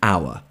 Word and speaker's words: hour: However, we use it with an because the H is silent when we pronounce it. We say an hour, not an hour.